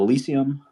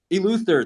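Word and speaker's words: Eleuther: yet i think but i think it's called elysium um you can correct me if i have that wrong maybe forgotten syllable there but it's something like elysium and uh open ai e luther thank you i always mix it up with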